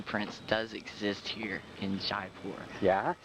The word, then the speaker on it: Jaipur: So far, the Okay, evidence is astronomical that the monkey prince does exist here in Jaipur. Yeah. That's how you pronounce it. Jaipur. Jaipur.